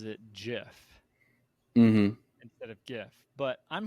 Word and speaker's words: GIF: hotly contested online oh oh that's uh it's gif S I will fight people about the pronunciation of that I think I just have